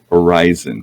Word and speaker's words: Orison: to blue planet crusader orison or is it horizon that's what i was like i've got it i've got to change my pronunciation horizon because that's what chris called it today landing zone and